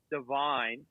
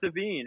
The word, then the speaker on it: Devine: and your mistake earlier i said his name wrong i never met him before and i was like devine how are you great to meet you thanks for coming on the show he's like uh it's not you said it wrong wait avril lavigne's not your sister avril lavigne i was like i'm just thinking levine here divine okay where's your name